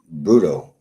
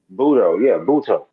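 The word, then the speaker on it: Butto: They put Singer back in, and Peterson will be long relief if anything, or even Bruto. I'm saying his name wrong. Buto. Yeah.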